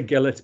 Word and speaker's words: Gillett: any marks i say gillette but people in york tend to pronounce the soft g so i get called